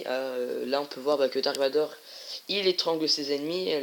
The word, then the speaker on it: Dark Vador: Alors, là on voit Dark Vader, enfin Dark Vador, hein, mais ça, alors, ça s'écrit Dark Vader, mais ça se dit Dark Vador. Enfin, en français en tout cas, c'est Dark Vador.